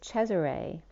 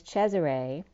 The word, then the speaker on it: Cesare: back to shea array which is cesare which is caesar for those of you don't know in italian that's a way of pronouncing cesare so treasury was also